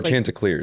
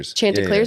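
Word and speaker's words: Chanticleers: that how it is the C is silent it's like chant oh chant clear chant clear that's how you say it I'm pretty sure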